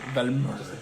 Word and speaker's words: Valmar: Shoot a firebolt in front of Valmar. Okay. Roll to hit. S'il vous plaît. Put the accent on the end. The mar. Mar. Velmer.